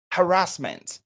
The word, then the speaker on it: harassment: Peut-être que c'est la prononciation qui pose problème. On dira harassment.